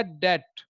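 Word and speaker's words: debt: और winter perfect tense B रीमेंस silent because this after 10 बी के बाद पति है इस स्थिति में भी जो है वह साइलेंट रहता है तो यह बोला जाएगा डेट इसका अर्थ होता है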